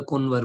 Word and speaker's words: कुंवर: गोमधर कुंवर, ठीक है, कुंवर सुना होगा आपने, दिल्ली के साइड में, नॉर्थ साइड में कुंवर बोलते हैं, तो उसी को जो है वहां पे कुनवर। ठीक है, कुनवर मतलब basically the pronunciation of Bengal, Assam, Orissa, इन सब का सिमिलर टाइप का प्रोनाउंसिएशन है। ठीक है, तो वहां पे कुनवर बोलते हैं। ठीक है, कुंवर को कुनवर बोलते हैं।